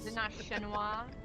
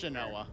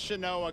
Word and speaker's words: Shanoa: Shinoa. No, I think it's Shanoa. It's Shanoa. It's Chanel. See, look. It's Shanoa cuz that's how Albus pronounces it in the game.